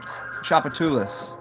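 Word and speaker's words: Tchoupitoulas: and then there's a a street called chulis which is really difficult to say at first and I probably did it I probably did it to disservice by by I could spell it probably better than I could say it so people just call it chop because it starts with TC h o u p Inferno you only wanted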